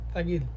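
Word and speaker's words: ثقيل: আর যখন আপনি তাগিল বলবেন এখানে কিন্তু এটা সা, আলিফ বা তা সা, সা এর উচ্চারণ হবে। এটা কিন্তু সিনের উচ্চারণও হবে না, তার উচ্চারণও হবে না, কিন্তু আরবিরা যখন বলবে তখন কিন্তু এটা তা এর উচ্চারণের মতো মনে হয়।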